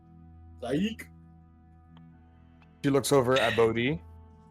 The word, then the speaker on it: Zaik: Zaik. She looks over at Bodhi. Zaik is his name.